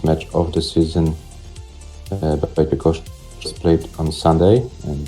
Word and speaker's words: Ćwiekoszczak: It's just 3 syllables for ķWIEKOSZCZAK. Yeah, 3 syllables only.